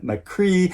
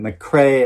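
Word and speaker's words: McCrea: talking about this book I pronounced the author's name um Gavin McCree of course it should be pronounced Gavin McCrae and it's just one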